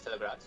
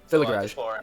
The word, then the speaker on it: Thilagaraj: My last name is Thilagaraj. Thilagaraj. Yes, Thilagaraj. Yeah, Thilagaraj. That's it. So I've always told people that it's like a garage, Thilagaraj.